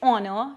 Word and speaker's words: honor: It was dash honor to meet the president of the sports club. So honor. Honor is starting with H, but H is silent, so it is starting with O.